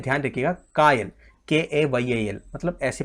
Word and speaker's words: kayal: ये भी इंपॉर्टेंट है, ध्यान रखिएगा, कायल, KAYAL, मतलब ऐसे प्रोनाउंसिएशन बता दिया मैंने।